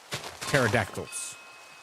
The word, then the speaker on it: pterodactyl: Pterodactyls. Yeah, it's pterodactyl. I can read that word. The P is silent.